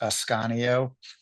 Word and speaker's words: Ascanio: an old southern name it's the last name is pronounced ascanio actually it's southern Italy so if anyone's I